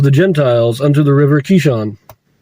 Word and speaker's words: Kishon: Gentiles unto the river Kishon. Not Kishon, sorry, Kishon, that's how it should be pronounced.